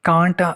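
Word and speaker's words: can't: कैंट नहीं है, इसको कांट मोस्टली लोग पढ़ते हैं। लेकिन इसे एग्जैक्ट अगर आप प्रोनाउंसिएशन देखें तो एज अ अमेरिकन प्रोनाउंसिएशन या ब्रिटिश की देखें तो ये कैंट है, कांट नहीं है।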